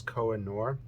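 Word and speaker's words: Koh-i-Noor: ebay um they're all i believe the pronunciation is koa noor k-o-h-i-n-o-o-r and i honestly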